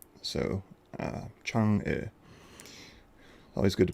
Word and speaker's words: Chang'e: Most times you'll hear it called Chang'e or Chang'e, but that's not correct. According to the Chinese, their goddess of the moon is called Chang'e. So, Chang'e.